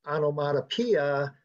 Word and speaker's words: onomatopoeia: five categories only because number six which is pronounced onomatopoeia does not appear in the voice and i